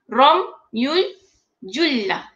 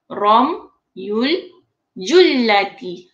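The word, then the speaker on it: رمي الجلة: Romyul Jullati. Kalau bacaan yang betul ejaan Romyul Jullati. Belakang T kena sebut.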